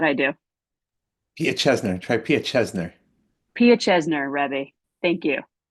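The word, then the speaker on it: Piaseczner: Here's a great piece of text from the Pietnikar I really have a hard time pronouncing this rabbi's name. Josh, how'd I do? Pia Chesner. Try Pia Chesner.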